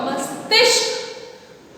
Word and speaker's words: मस्तिष्क: म में छोटी की म, अदा स में छोटी की मात्रा सी, त अदा श क, मस्तिष्क।